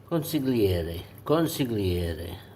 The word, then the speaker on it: consigliere: Consigliere is the correct pronunciation of that.